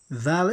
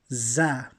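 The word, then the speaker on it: ذ: Now, Dhal is pronounced with the tongue outside the teeth. Dhal. It should not be confused with Za. Okay? Many people will say, instead of Dhal, they will pronounce Za.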